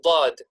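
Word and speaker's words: ض: From the heavy letters are, for example, dad. Dad. You can already hear that it almost suits the name. You can tell that it should be a heavy letter.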